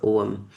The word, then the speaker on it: Ogham: Is it pronounced Ogham or Ogham? Oh, Ogham, Oh, thank you.